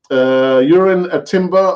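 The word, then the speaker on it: Jurriën Timber: Urin Timber.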